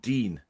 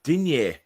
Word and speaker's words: Digne: That's actually I hate the way they pronounce his name on the commentary, calling him Dean. He's not... It's Digne. It's French.